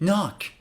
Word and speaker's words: knock: Or this one, knock, but you should read it knock.